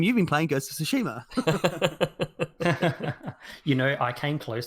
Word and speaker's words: Tsushima: of all i understand in the game they all all the characters call it sushima and that's the the proper pronunciation and i was like